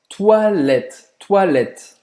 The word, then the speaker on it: toilette: Toilette. Toilette. O O em francês vai ter esse som de UA. E aí o ES no final você não pronuncia. Simples assim. Termina a pronúncia no T.